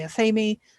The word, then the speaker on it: athame: So yeah, there are so many different ways to pronounce this word. Like I said, I say athame. A lot of people in the UK say that. Most people in North America seem to say athame or athame. Not sure how the difference in pronunciation came about, but there it is.